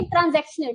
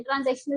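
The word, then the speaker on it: transaction: के मोटिव दिए थे ट्रांजेक्शन ट्रांजेक्शन नहीं है य गलत स्पेलिंग है ट्रांजैक्शन मोटिव री ठीक है ट्रांजैक्शन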